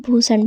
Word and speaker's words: भूषण: पढ़ते हैं तो दोस्तों जब बी के बाद एच आए तो हम उसका उच्चारण भा करते हैं जैसे कहीं भी आपको बी एच दिखे तो उसको हम भा पढ़ेंगे जैसे कि बी एच यू एस एच ए एन इसको हम भूषण पढ़ेंगे बी एच ए आर ए